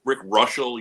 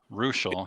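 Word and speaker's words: Reuschel: Rick Russell, you should know. Ruschel, he pronounced.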